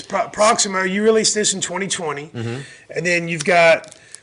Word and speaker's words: Proximo: Is it Proximo? It's Proximo.